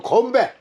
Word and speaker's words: 건배: 코리아는 간바이가 아니고 건배. Konbae. Konbae. 예, 건배.